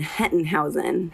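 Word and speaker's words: Hettenhausen: ATI a conference with can you pronounce and spell your last name for us right yeah it's German Henton Heusen h ET t en h au sem i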